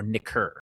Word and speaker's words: nicker: Trace Nick or Nicker. N I C K E R, that's a hard C K, by the way.